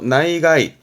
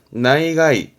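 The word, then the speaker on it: 内外: 내외, 안과 밖을 의미했던 내외 발음, 그래서 나이가이, 나이가이.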